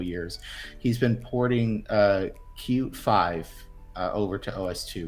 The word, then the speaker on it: Qt: would look this up cute is spelled with just the letters qt yes pronounce cute because the whoever came up